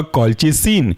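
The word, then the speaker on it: colchicine: है वह है आपका कलच सन कलच सीन की स्पेलिंग ऐसी है इसको तोड़ करके अगर हम बोलें तो होगा ये आपका कलच फिर लास्ट में जुड़ जाएगा सीन स्पेलिंग है कॉल च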